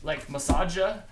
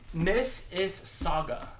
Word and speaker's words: Mississauga: Miss is Saga. Saga? Mrs. Saga. You don't pronounce the U at all? Miss is Saga. S-A-U-G-A. Saga. But SAGA would be It's soggy like- just as well.